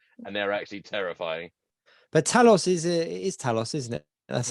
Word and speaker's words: Talos: But Talos is Talos, isn't it? That's how you say his name. Talos.